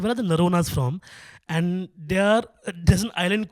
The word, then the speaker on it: Noronha: Yeah, I'm House of Noronha everywhere. House by HOUSEOF, NORONHA. Yeah, rhymes with Corona, I always say.